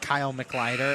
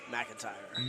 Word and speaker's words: McIntyre: mispronouncing the major one it's not Kyle mider it's McIntyre McIntyre that's a capital I not an L my bad on that